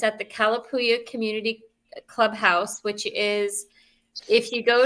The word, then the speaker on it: Kalapuya: Kalapuya. It's native. It's Kalapuya. There were the Kalapuya Native Americans that live in this area.